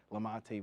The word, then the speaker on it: Lamonte: Of course, please joining me is welcoming head coach of track and field cross country, Lamonte. Lamont. It's spelled Lamonte, you know.